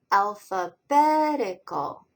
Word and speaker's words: alphabetical: Okay, here's a harder word, alphabetical. There are 5 syllables in that word. The strongest stress is betical, although the first syllable, ow, has a smaller stress as well.